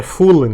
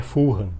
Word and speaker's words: Fulham: E é Fulan que se diz o nome, né? Você é chato, não é Fulhan, apesar de se escrever assim.